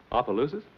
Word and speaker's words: Opelousas: Opelousas?